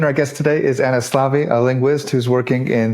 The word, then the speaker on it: Szlávi: Like you said, my name is Anna Szlávi, and pronunciation was perfect.